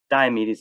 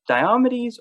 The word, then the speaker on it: Diomedes: I've heard it pronounced both ways, Okay. and there's arguments for either way. Hmm. I pronounce it Diomedes, Okay. but actually had conversations with people who pronounce it Diomedes, Hmm. and Sure. I I like Diomedes, but Yeah. I'm not going to argue with anybody if they pronounce it slightly differently.